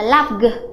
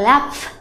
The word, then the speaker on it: laugh: Vậy thì cái âm GH này chúng ta không đọc là laugh, chúng ta đọc là laugh.